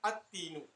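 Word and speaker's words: التين: The sun letters, if any word which starts with a sun letter, when we prefix the definite article alif lam to it, then lam will not be pronounced. For example, at-tinu.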